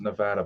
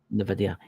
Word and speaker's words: NVIDIA: It's not pronounced Nevada, but I know what you're talking. NVIDIA or something like that. NVIDIA.